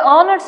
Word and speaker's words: honor: Now, in this kind of a field where you are a scientist, your honor, okay, the H is silent there.